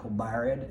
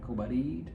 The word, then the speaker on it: Kobarid: not Kobarid as I was calling it, Kobarid.